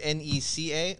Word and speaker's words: NECA: that's behind you and i don't want to butcher the name of this toy company it's n-e-c-a or n-e-c-c-a oh uh neca yep i don't